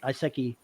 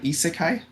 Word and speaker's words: isekai: and I I said I probably mispronounce it iseki progression where the cultivators gain skills and abilities I wonder if there's a decent RPG that uses you know cultivation type structure to build themselves up you mean uh isekai that's it I only I only